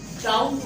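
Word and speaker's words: doubt: डाउट word लिखा है। डाउट word को अगर आप ध्यान से देखो तो बी इसको प्रोनाउंस नहीं किया जा रहा, सिर्फ लिखा जा रहा।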